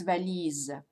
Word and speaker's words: valise: So it would be valise. But it's not valise, it's valise. with a z sound.